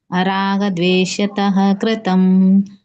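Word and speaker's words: ರಾಗದ್ವೇಷತಃ: ಕೃಷ್ಣ ನಿಯತಂ ಸಂಗರಹಿತಂ ರಾಗದ್ವೇಷ ತಕೃತಂ ಅಪಲಪ್ರತುನ ಕರ್ಮ ಯತ್ತತ್ಸಾತ್ವಿಕ ಮುಚ್ಚತೆ ಹರೇ ಕೃಷ್ಣ ಮಾತಾಜಿ ಇಲ್ಲಿದ್ವೇಷತ ಅಂತ ಹೇಳಿ ವಿಸರ್ಗ ಮಧ್ಯದಲ್ಲಿ ಹೇಳಂಗಿಲ್ಲ ಸ್ವಲ್ಪ ಉಚ್ಚಾರಣೆ ಬರಬೇಕು ರಾಗ ದ್ವೇಷತಃ ಕೃತಂ ಆಮೇಲೆ ಅಪಲ ಅಪಲ ಪ್ರೇಪ್ಸುನ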